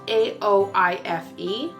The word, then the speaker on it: Aoife: But it's spelled A-O-I-F-E. Google says it's Aoife.